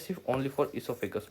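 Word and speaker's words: oesophagus: चलो, इसोफेगस सबसे बढ़िया इसोफेगस खासियत है कि इसके स्पेलिंग में ही गड़बड़ है। स्पेलिंग में ऐसे गड़बड़ है कि इसका ओ साइलेंट होता है।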